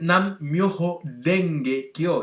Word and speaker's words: Nam Myoho Renge Kyo: letra más parecida, pero no se pronuncia re, sino que se pronuncia de, como en cara.